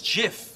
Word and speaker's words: GIF: pictures on the internet are they called gifts or gifs well although G stands for graphics that's a hard G so I say get what the guy who invented it says it's Jiff I'm sorry do you